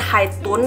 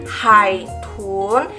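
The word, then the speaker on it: 海豚: Hi Hoon Hitz pun bukan haid tune ya teman-teman tapi Hi Hoon Hain ada tiga pun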